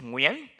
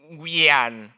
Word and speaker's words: Nguyen: It's like we as in win, and then n as in enter, right? So you come together, it goes Nguyen.